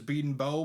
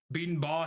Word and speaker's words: Bedenbaugh: I've heard both pronunciations in the last few weeks, which has really kind of been weird for me because I've always heard it as Beaton Bow, but Beaton Baugh has come out of nowhere, and I don't know how to feel about that. That might be right for all I know.